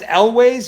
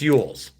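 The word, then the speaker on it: Elwes: It's pronounced Elwez. You know what? I always pronounced it that way too, Kevin. And somebody corrected me. I thought it was Carrie Elwez. And I pronounced it Elwez. And I've always pronounced it Elwez. And somebody goes, no, it's Yules.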